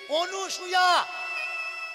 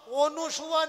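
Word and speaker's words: অনসূয়া: এরা নামটাও উচ্চারণ করে ভুল, অনুসূয়া বলছে, অনুসূয়া, অনুসূয়া নয়, অকার দন্তের ন, অন সুয়া, অনসুয়া।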